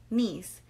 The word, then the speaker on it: Neese: So today we're going to talk about the murder of Skylar Neese. Neese? Okay. Neese. It's Neesse. Oh. So it sounds like, it's pronounced like knees, as in a knee, as your knee, your knees or your knees.